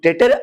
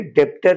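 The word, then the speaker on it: debtor: मैंने कहा डेटर। I have used the word डेटर बी is silent. ठीक है? डेप्टर नहीं डेटर।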